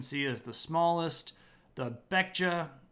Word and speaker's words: Baekje: The Baekje, which is actually sometimes pronounced with a P, so Pekja.